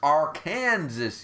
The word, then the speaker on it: Arkansas: like third parking space A Little Rock our Kansas it's Arkansas it's pronounced Arkansas you idiot um just said